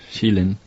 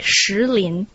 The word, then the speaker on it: Shilin: One of my abiding memories of Kunming would be the stone forest, Shilin, located outside of the capital. But it's wrong. You should pronounce it like Shilin.